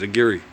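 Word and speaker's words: Aguirre: don't know that that my people call me aguire but my last name the actual pronunciation is a giri a giri it's it's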